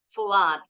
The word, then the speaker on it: flood: Tapi ada juga yang O-nya 2 bunyinya A. For example, in the word flood, banjir. Also, blood, darah.